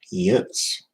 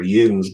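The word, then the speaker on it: yinz: Yents. Or Yens, get it right.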